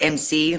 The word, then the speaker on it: Emcee: Yeah, it's EMCEE, but it's pronounced MC, like MC.